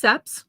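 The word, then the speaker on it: cèpes: it is um pronounced seps which is a French word for a type of mushroom hence the little stem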